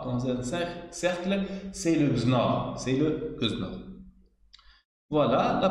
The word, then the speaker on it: XNOR: N-XOR, mais pour simplifier la prononciation, généralement, on appelle XNOR. C'est XNOR. C'est pas N-XOR. C'est XNOR.